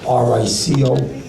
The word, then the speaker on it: Rico: I like to spell it R-I-C-O. I pronounce it just like it sounds, Rico, from a small corrupt town in New Jersey.